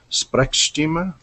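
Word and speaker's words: Sprechstimme: uh helene's asked me how that german word is spelt it is s-p-r-e-c-h s-t-i-m-m-e all one word so sprechstima not sure if that's yeah i know the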